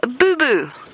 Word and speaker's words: boubou: A southern boo boo, which sounds like something you get when you're a kid when you raise your knee or your elbow. It is spelled B O U B O U.